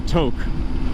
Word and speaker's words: Tok: head north to uh toke which is spelled tayo k and i would have thought for sure was brown's talk you know but no everything's pronounced different here in alaska i'm surprised anchorage